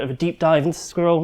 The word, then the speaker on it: SQRL: So, SQRL, Secure, Quick, Reliable Login, also pronounced Squirrel, as Kevin's been pronouncing it, hence the logo, was